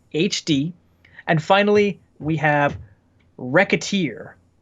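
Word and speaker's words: Wreckateer: and finally we have Rekha tier but spelled with a W so it's not you know right like like wrecking stuff yeah wreck is the emphasized word what do you feel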